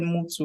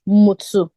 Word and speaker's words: Mutu: like how it's pronounced I think you said move to right um it's pronounced mutsu even myself the pronunciation